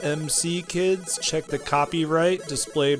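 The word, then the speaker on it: M.C. Kids: MC kids you are correct and it is pronounced MC kids check the copyright displayed right here on the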